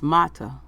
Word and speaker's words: Mata: a don't even know how to pronounce his last name its mata Mata all right and Mike